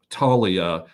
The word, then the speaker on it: Toglia: guy who is Michael Talia and it's spelled t o g l i a the g is silent my friends and I know this